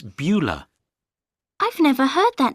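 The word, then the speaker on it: Beulah: you listen and write what's her name it's bua I've never heard that name before how do you spell it b e u l a h how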